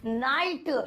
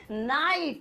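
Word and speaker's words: knight: उसकी आवाज़ नहीं निकलती अब जैसे यहां पर एग्जांपल है नाइट हम स्पेलिंग में ग बीच में है तो ऐसे नहीं बोलेंगे नहीं बोलेंगे नाइट एन की आवाज़ आई आई की आवाज़ आई टी की आवाज़ आई जी ह का गला घोट दिया इसी तरीके से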